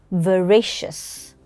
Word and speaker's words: veracious: And the adjective is veracious. Say it with me. Veracious. Veracious. This is its pronunciation. Veracious. One more time.